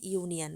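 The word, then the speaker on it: union: পরেরটা রয়েছে অ্যান ইউনিয়ন। দেখো এটা কিন্তু অ্যান হবে না, এটা এ হবে। কেন? এই যে ইউনিয়ন ভাওয়েল থাকা সত্ত্বেও এটার উচ্চারণ ইউ এর মতো হচ্ছে।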